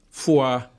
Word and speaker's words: fuá: É, fuá, ele vem do francês, fuá. A, a, em francês a pronúncia é exatamente essa, fuá.